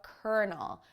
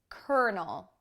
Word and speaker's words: colonel: army officer called a colonel which is pronounced completely differently than it looks colonel now you might not